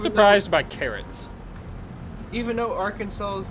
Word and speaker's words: Arkansas: Even though Arkansas's #1 seller is rice. I thought Really? carrots would be like a crop they would have in, but they don't. Yeah, Arkansas's #1 thing is rice.